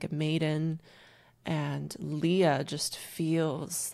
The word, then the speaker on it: Lia: planning on reintroducing myself next year as just Leah so short for my name Celia it's spelled c i l i a so I